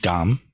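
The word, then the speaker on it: 감: It's gam, pronounced gam in Sino-Korean.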